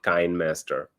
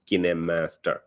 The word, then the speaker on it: KineMaster: is kinemaster or some may also call it kind master kinemaster or kindmaster whatever you like to call but according to the makers of the software they should it should be called kinemaster okay so it's about the pronunciation so kinemaster